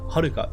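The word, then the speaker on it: はるか: Yeah, Haruka. Well, it's such a beautiful word. Oh, it's pronounced Haruka.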